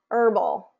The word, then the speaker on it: herbal: sound in it but here is a list of the most frequently used words that don't have the H pronunciation so this would be like honest Allelujah Heir honor um herbal hour spaghetti okay so there's no h pronunciation there and then it gets